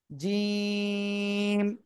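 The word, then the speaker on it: جيم: না দেখেন আমার দিকে জিহ্বার মধ্যখান তার আবার উপরে তালুর সাথে লাগাতে হবে জিহ্বার মধ্যকান উপরে তালুর সাথে লাগাতে হবে।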